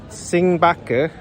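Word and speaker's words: 星巴克: This is how you say Starbucks in Mandarin Chinese. Singbaka.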